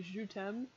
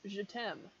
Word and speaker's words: je t'aime: Someone not as smart as me would probably say je t'aime because of this, I would imagine. And then tem is pronounced tem to rhyme with them.